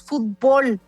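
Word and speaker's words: futbol: Pues en México decimos fútbol, como una palabra aguda que termina en L y por lo tanto no lleva acento. Así es como lo pronunciamos aquí, porque se parece más a la forma en la que se dice en inglés.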